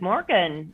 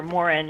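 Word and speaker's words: morgon: with us oh well good morgan or morin i said i i guess you don't pronounce the g's there so sorry about that um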